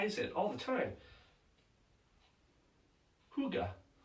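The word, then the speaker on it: hygge: pronounced it's h y GE e looks like hiyi or higgy it's pronounced Huga and it's a way of life it's a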